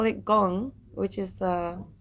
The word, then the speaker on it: Gong: don't you call it gong which is uh y gong yes and he said because it rhymes with gone and then I was